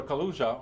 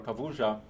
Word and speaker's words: Kaluza: And then there was this other gentleman, Theodor Kaluza, or Kavuja, I think how this is pronounced. His name is of Polish origin.